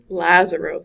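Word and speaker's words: Lazzaro: Lazero, thank you.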